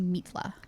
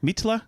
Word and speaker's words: Mitla: to tune into that it's probably pronounced meatla mitsla mitla there's an i sound as in yeah Spanish one thing I will